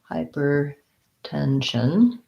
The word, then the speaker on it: hypertension: um so for hypertension hypertension we kind of have a stress unstressed pattern here hypertension the main stress is on the 10 of tension secondary stress on the first syllable of hyper and you may find